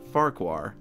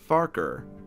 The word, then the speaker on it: Farquhar: the topic of pronunciations Farquhar is also incorrect the show has always called it farquar as it looks like it's spelled my favorite station is fathakwa Thomas left farqua however the original pronunciation is farker sort of like focker as said again in